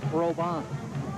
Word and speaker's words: Robin: for a first down you folks in Montana would pronounced that Robin of course ro bi n but down here in Louisiana we add a little French flair to that we call him robot robot robot first agenda